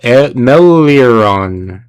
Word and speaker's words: Meleoron: Meleoron. There we go. I'm sorry, guys. Melior. For some reason, he introduced himself as Jail and then corrected him to Meleoron.